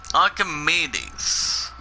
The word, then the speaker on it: Archimedes: Archimedes. It's pronounced as ARC8.